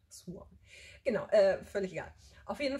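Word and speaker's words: Siuan: Ich habe den Namen echt ewig lang falsch ausgesprochen, weil ich meine, der wird ja Siwan geschrieben, also aber Swan gesprochen. Swan.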